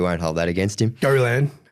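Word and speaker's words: Gollan: Go Lan. Tony Gallan. Gallan. Yeah. There's a little French twist on that one.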